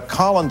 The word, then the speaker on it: Colin: figures I was uh Colin to my parents that's the more common British pronunciation but when I was